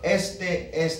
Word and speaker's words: este: are now demonstrative pronouns accent marks of this sort do not change our pronunciation of the word this word because of the rules of pronunciation in spanish is already pronounced with the natural stress on that e so by writing an accent we don't change the pronunciation of the word the word is este both words are pronounced exactly the same the only reason we